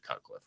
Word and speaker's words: Cutcliffe: well his name uh last name rhymes with rutcliffe and his first name is the same as mine it's David cutcliffe right my name's actually